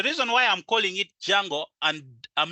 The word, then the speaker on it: Django: why I'm calling it Django and I'm not pronouncing the word d most some of you may call it dijango hey that's kind of weird the D is silent it's called Django so pip install Django